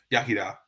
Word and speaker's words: Iechyd da: Iechyd da.